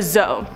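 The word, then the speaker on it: dzo: On to number 4, a zoe. This is spelled D-Z-O or D-Z-O.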